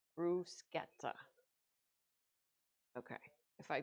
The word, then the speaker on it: bruschetta: And lastly, we're going to make a crockpot brusqueta chicken. I had to think about how to pronounce it because I I looked up the exact um way to pronounce it. It was brusketa.